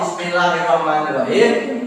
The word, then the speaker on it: Bismillahirrahmanirrahim: membacanya standar Boh dibaca Bismillahirrahmanirrahim tapi kita belajar juga belajar yang pasnya rnya digitarkan ketika membaca atau mengucapkan melafalkan R maka itu harus gigi atau lidahnya digetarkan Bismillahirrahmanirrahim Ayo Bismillahirrahmanirrahim